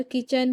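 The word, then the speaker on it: kitchen: देखिए प्यारे बच्चों यहां पर किचन की स्पेलिंग के आई टी सी एच ई एन किचन। किचन में टी तो लिखा जाता है लेकिन उसे पढ़ा नहीं जाता। यहां पर टी साकिन है।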